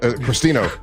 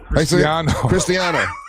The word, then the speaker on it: Cristiano: Cristino. Cristiano.